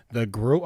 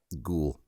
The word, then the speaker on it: ghoul: How do you say growl? The growl? Gruel? Growl? Ghoul. The ghoul. Oh, there you go. Gruel. Yeah. Gruel. Thank you, public. No, ghoul. Ghoul.